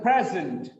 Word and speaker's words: present: It's a very good present. The first syllable is stressed. He is presenting. Look at here. Pre becomes pre in the second when it works as a verb. It's not pre, it is pre.